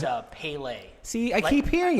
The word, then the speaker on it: Pale: twitter and stuff with the correct pronunciation it's pele just like the soccer player yeah see i say